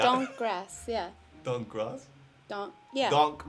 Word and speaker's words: Donk Gross: Donk Gross. Did I say it right? Probably not. Donk grass, yeah. Donk Gross? Yeah. Donk Gross. It's pronounced DAWNK grass, so donk grass.